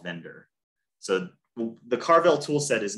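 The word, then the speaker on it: Vendir: with a tool called Vendor. So the Carvel toolset is made up of different individual tools. And Vendor is spelled V-E-N-D-I-R, kind of clever, is going to help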